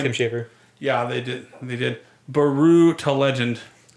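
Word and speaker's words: Brütal: Baru to Legend. I pronounce it like Yahtzee does on the Escapist with the double dots over the U. Baru to Legend, because there's 2 dots.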